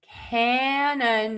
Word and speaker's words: canon: So, these words are homophones and they are pronounced exactly the same way. And so, you can check out that video to learn how to pronounce canon.